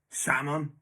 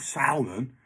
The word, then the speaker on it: salmon: No, it should be spelled S-A-M-U-N, salmon, for fuck's sake. It's not salmon. You don't fucking say salmon, do you?